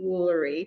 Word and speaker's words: Wolery: guest here we have Riley Woolery just like Chuck wooler you told how do